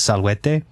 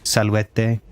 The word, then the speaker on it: salvete: If you've got one person, if you've got multiple people, it's salvete. But it's spelled S-A-L-V-E, like salve, the word salve that we use. But it's salve, salvete, winnie weedy wiki, not veni vidi vici, but veni vidi wiki.